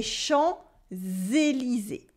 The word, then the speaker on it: Champs-Élysées: We also have a silent P. We don't say les champs. We say les champs, les champs, les champs. The P is silent. And at the end of Élysée, ES are silent as well.